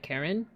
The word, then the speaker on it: Charon: For those who don't know, like Pluto has a moon called Karen. Not Karen like with a K, but like it's spelled like Charon, but it's pronounced like Karen.